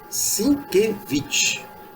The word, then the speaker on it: Sienkiewicz: pronuncia-se sinkevich bom nomezinho difícil pra Opa